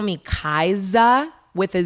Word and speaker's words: Kaisa: great one yeah so my name is pronounced kaiser with us not a z and it's so funny